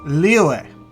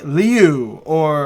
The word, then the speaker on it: Liyue: It's Liyue. Most of the characters say that correctly. Some of them say Liu or something else that doesn't sound right compared to everyone else pronouncing it correctly.